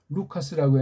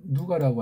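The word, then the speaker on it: Λουκᾶς: 지금 제가 이거 루카스라고 했는데 한국에 이건 누가라고 하잖아요. 누가. 이거 카톨릭 용어고 일본 용어예요. 원어 발음이 안 되니까. 또 우리나라 말을 정음해서 한글로 망가뜨렸으니까, 서양이랑 일제가 이런 걸 가지고 말을 하니 이게 하나님의 뜻이. 전 이건 누가 아니 루잖아요. 루. 그 다음 가가 아니고 카.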